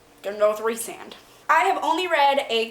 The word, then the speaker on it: Rhysand: I looked at the pronunciation guide, said Rhysand. Gonna go with Rhysand.